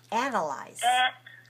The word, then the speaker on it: analyze: like a hump analyzed analyze and allies has three syllables where is the stress first second or third syllable right stressed on the first syllable so the first syllable has to be clear ah the second one is weak the second one is a schwa anna anna analyze in